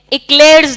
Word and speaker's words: Eichler: Now very very interesting, एक phylogenetic classification हम पढ़ेंगे जो इक्लेयर्स ने दिया था। ये इक्लेयर वो चॉकलेट इक्लेयर नहीं है, इसकी स्पेलिंग है, इनकी स्पेलिंग है EICHLERS। ये फाइलोजेनेटिक सिस्टम है।